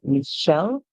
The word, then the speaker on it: Michelle: reading from different slides always remember this is Michelle the most popular pronunciation for that name name in English m m if you see it pronounced otherwise it is fine to pronounce it otherwise because names they do not follow rules all right if you want to hear before the CH makes it sound like sh in the word or